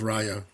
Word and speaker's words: Rhea: a little bit about Rhea please. Yeah it's it's it's pronounced Rya by the way but that's okay.